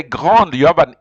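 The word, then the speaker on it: grande: pronounce it but yeah you have to pronounce the d you have to say Grand Concourse the technology so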